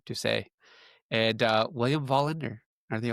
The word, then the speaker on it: Doucet: You got Doucet and AKL, and William, that's how you actually pronounce his name, Doucet.